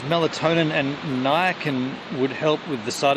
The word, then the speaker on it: niacin: before nice and am i saying it right niacin yeah interesting interesting think i'm gonna go and